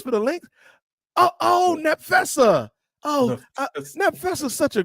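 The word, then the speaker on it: Napheesa: Nefisa. Right. P is not one. Come on, man. The P is silent, Kathy. The P is silent. It's like a F, but not Nap Fessa.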